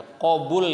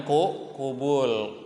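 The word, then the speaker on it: قبول: Ya qabul ya bacanya, jangan kubul.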